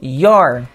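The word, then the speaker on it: you're: pode encurtar falando your Repita comigo your que é a mesma pronúncia do York seu tipo Whats your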